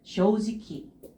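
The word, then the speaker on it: 正直: 거예요 초크데 지금 어떻게 읽고 있어요 지키 다르죠음 쇼지키 쇼지키 쇼지키 예 게요 쇼지키 쇼지키 이웃도 지키라고 읽어 주시면 돼요 자 그다음에 캠 진지하다고 들어가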